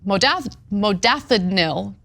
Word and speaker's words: modafinil: Investigators repeatedly noted that the unit had ordered thousands and thousands of doses of the stimulant modafinil, right?